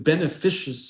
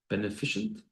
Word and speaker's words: beneficent: He's been beneficious. Or how do you pronounce that word? Beneficent. Beneficent. I didn't pronounce the English correctly.